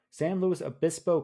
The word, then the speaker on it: San Luis Obispo: California San Luis how do you say Sean San Luis Obispo Obispo San Luis Obispo County in California is like giving Harvest hosts